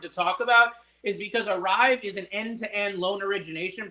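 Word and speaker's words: Arive: about a tool called arrive arrive is spelled a r i v now this tool arve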